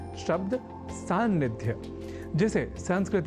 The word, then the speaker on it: सान्निध्य: भाषाओं के प्रयोक्ता भी सन्निधि शब्द के लेखन और उच्चारण में किसी प्रकार की अशुद्धि नहीं करते, पर सन्निधि शब्द से बने सान्निध्य शब्द में हो जाती है कुछ प्रयोक्ताओं से चूक।